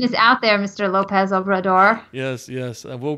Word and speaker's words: Obrador: But top candidate, I'm gonna get this name wrong, but I'm gonna try. Andres Manuel Lopez Obrado. I don't know how you say his last name. You got it? Obrador.